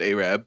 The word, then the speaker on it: Arab: make our way through the small town of Arab, Alabama, located at the intersections of highways 67 and 69. Anyways, it's spelled like Arab, but pronounced Arab.